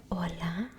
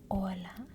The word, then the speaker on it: hola: the beginning we have hola hola means perfect then go ahead and repeat yes and what about the h ID you will not say you would not pronounce the h so we have hola for hello iOS adios